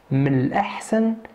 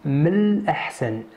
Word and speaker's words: من الأحسن: Please notice that I don't pronounce the N here. It is said, but it is written, but not pronounced. من الأحسن.